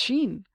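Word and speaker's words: שין: know like I think the Hebrew letter s-h-i-n is pronounced Sheen because I looked it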